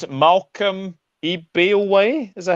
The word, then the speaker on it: Ebiowei: Malcolm Ebiowei, is that how you pronounce it? Ebiowei, yeah.